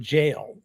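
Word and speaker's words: gaol: But it was like a they spell it go. G O A L. Right. And they pronounce it jail.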